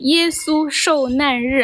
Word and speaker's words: 耶稣受难日: Wait, so here is pronounced with the fourth tone. Is that? But the right way to say that should be 耶稣受难日. I'm a native Chinese speaker. You should trust me.